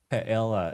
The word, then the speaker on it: paella: Let's eat paella. Is that I pronounced it right?